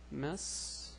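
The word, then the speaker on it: مسؤول: It's the same word, and the pronunciation for this word is mas'ul. Mas'ul, which means a person in charge. And here the Hamza is stretched by the waw, so mas'ul, same as here, mas'ul.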